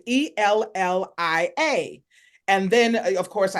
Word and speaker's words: Ellia: guess six or seven I knew my name was ellia and I would tell people my name was ellia well by the time I started school no one was pronouncing it correctly they would either say Eliah or Elijah or Elia it was all kinds of things and so and when